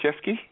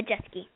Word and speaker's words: Jeske: Jeskey. How do you say your last name? Is it Jesy? Yeah, Jessie. Okay.